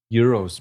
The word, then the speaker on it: gyro: Why do you say euros, man? That's Like, that's all said. He's right. do they say it like that over there? What? Heroes? Like euros? Euro. Okay, my bad. My His bad, people. man. I'm very sorry because it's spelled with a G, so I just Very thought.